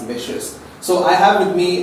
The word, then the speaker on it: Licious: It's quite delicious, a startup, and the name also is something which rhymes with delicious, and that's licious.